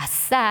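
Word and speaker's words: עשה: 여기서 행하다라는 말은 히브리어로 아싸입니다. 우리가 아싸 할 때 그 아네 그렇게 그 발음이 정말 그래요. 아 아싸 이렇게 제가 찾아봤거든요.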